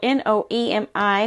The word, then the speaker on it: Noemi: Nomi? Now, I know that her name is spelled N-O-E-M-I, which in Spanish is Noemi, but her Instagram is called Nomi Sews, and that is K-N-O-W underscore M-E underscore S-E-W-S.